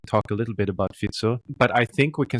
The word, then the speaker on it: Fico: long time until I understood his name is pronounced fito and not FICO well there is actually a Robert FICO in